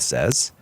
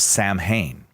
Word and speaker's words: Samhain: who asks about something like that uh Gareth says in Wales many claim Halloween came about because of the Celtic Feast of Sam Hayne sa I know it's spelled Sam Hayne but